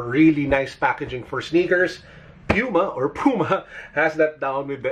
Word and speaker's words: Puma: And instead, I'm thinking we go with Puma. Now, some people pronounce this as Puma. I got used to pronouncing it as Puma, so I'll pronounce it as Puma.